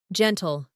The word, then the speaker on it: gentle: Gentle, gentle. Letter G sounds like G because of that letter E.